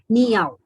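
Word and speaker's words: 你好: Though it is written as you can see on the screen, Ning Hao, but it is pronounced as Niao.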